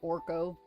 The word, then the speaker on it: Arco: It's actually probably pronounced arc. Like, you're probably not supposed to pronounce the O, but I can't help think Orcco when I see it. So, Arco, let's go.